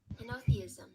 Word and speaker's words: Henotheism: Henotheism.